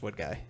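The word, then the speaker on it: Woodgie: guy and some people don't believe it's pronounced wood guy because it's spelled wo OD gie okay but I'd like to just settle the issue on stream that it is pronounced what guy for these wood guy individuals okay 31 people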